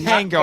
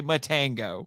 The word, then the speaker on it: Matango: It's not the first time that she has told that joke, but it is Matango. I said it wrong. It makes more sense if I say Matango.